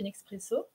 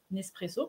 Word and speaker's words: Nespresso: à être technicien chez nexpresso Nespresso pardon d'une expresso c'est pas la bonne prononciation alors est-ce que tu